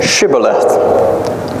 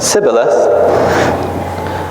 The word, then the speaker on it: Shibboleth: verse six he said to him to say Shibboleth he said and if he said sibylla's for he could not pronounce it right then he seized him and